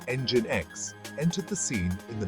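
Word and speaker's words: nginx: demands on web servers ngx pronounced engine X entered the scene in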